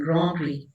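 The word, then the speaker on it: Grand Prix: टी भी silent होता और एक्स भी साइलेंट ग्रोन ट्री।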